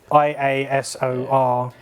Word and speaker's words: Iasor: The Yasor, however it's pronounced, Yasor. it's Iasor.